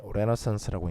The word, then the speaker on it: Renaissance: 르네상스에 관한 이야기. 영어로 이제 레너상스라고 읽는데 르네상스 시대에는 굶주린 예술가라는 용어가 없었대요.